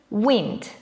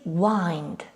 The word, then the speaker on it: wind: well it is and we can pronounce this word in two different ways the first one is wind and the second one is wind wind wind wind is